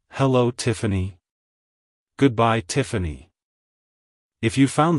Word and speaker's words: Tiffany: as Tiffany Tiffany Tiffany to pronounce it correctly emphasize the first syllable Tiff and then the second syllable an a like hello Tiffany goodbye Tiffany if you